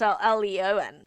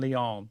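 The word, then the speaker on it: Laon: Leon Leon different place so Leon is L E O N and Leon is spelled L A O N Wow and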